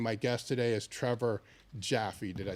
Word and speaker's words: Jaffe: It's like the candy taffy, just with a J. Yes, Jaffe.